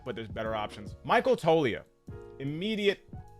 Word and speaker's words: Toglia: Michael Toglia. Immediate S tier card. Now, when we're talking about Toglia, what are we talking about here? Well, I hope it's Toglia, not Toglia. I'm assuming the G is silent.